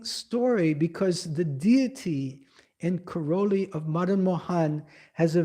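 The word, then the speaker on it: Karauli: Now Madu Mahan Mu Mahanji today is not in Vindavan is in Corelli. The modern moan deity had been shifted to Corelli. First to Jaipur first Karoli.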